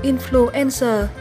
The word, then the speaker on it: influenza: danh từ số 3 là influenza. Nhấn âm 3 nhé.